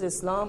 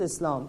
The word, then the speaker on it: Islam: to be more accurate it's better to pronounce it as it's supposed to pronounce with the sound of s and not z now what is islam islam literally means submission